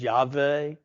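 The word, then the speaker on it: Yahweh: the ton we've added vowels to it we pronounce it as yve don't get too excited about that but just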